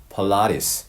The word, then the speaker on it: Pilates: 필라테스라고 우리말로 발음하지만 영어로는 Pilates 이렇게 표현합니다. 약간 좀 발음이 차이가 있죠.